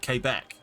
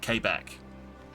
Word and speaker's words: Quebec: Okay, well, literally no one in the UK calls it Quebec. It's called Quebec. Quebec, yeah. That's, yeah. Most people, oh, okay, fair. Quebec, yeah. Fair enough. So this is a local pronunciation versus an everyone else pronunciation then.